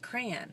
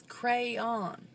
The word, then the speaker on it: crayon: Facebook that somebody that some people pronounce it crayon like CRA n it's crayon cray cray on but if we go